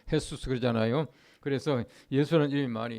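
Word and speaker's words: Jesús: 그래서 수스 하면 jus 쓰지만 이제 그 스로 발음하면 헤수스 그러잖아요 그래서 예수라는 이름이 많이 있습니다 예수는 구원자이시다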